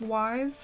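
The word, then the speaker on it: Ys: for the beach area is the City of Wise, or Is is how you pronounce it, but I grew up kind of pronouncing it like Wise, but if you Google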